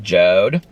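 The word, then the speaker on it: Jord: ever watch ever watch everywhere is this it's pronounced jode but it's j-o-r-d i actually did a sponsorship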